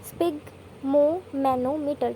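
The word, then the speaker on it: sphygmomanometer: स्पिग्मोमैनोमीटर, ठीक है। इसे तोड़ तोड़ के याद कर लो। पहले स्पिग, स्पेलिंग भी नहीं होती ना, स्पिग, फिर मो, ठीक है, फिर मैनो, ठीक है, फिर मीटर, स्पिग्मोमैनोमीटर, ठीक है।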